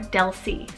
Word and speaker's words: Dulce: a super sweet meaning and that's the name dulce or del c so d-u-l-c-e and this one directly means candy